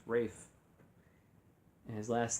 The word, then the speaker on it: Ralph: and as I'm told even though it says Ralph it's pronounced Rafe and his last name